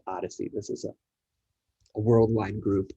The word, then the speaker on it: OHDSI: and informatics collaborative or ohdsi which is pronounced odyssey this is a worldwide